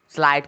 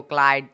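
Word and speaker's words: slide: आप लोग पढ़ते हो स्लाइड को क्लाइड, तो गलत ही हो गया, समझ ही नहीं पाओगे क्लाइड मतलब क्या होता है, लेकिन उसका सही प्रोनाउंसिएशन तो होगा स्लाइड।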